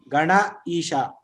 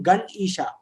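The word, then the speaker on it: Ganesha: In North India, if they are pronouncing Gan Isha, or anybody who is familiar with Hindi, if they are pronouncing Gan Isha, it is not correct. Gana Isha.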